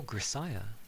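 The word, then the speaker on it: Grisaia: Oh, Grisaya. Okay. Because I'm not sure. That would make more sense for the breakup at least, because of the Psy part. Grisaya.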